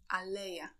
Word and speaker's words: aleja: Please note that the word stress in Polish is fixed on the second to last syllable. So we read ananas, banan, aleja, gratulacje.